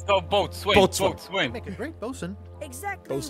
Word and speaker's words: boatswain: a second mate a boson a ship surgeon and a gunner do you think you're qualified for any of those what there wasn't many of the letters in both swain pronounced one what's one what